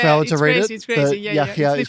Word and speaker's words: Giachgia: And we're joined today by Yaka. Is that right? Correct pronunciation. Yeah, it is. It's spelled Gagia if I were to read it. Yaka is correct.